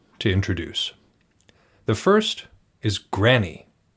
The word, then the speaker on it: Grani: The first is Granny. That's what his name is spelled Grani. Granny? Granny? We're going to go with Granny because it sounds a little bit less like Granny.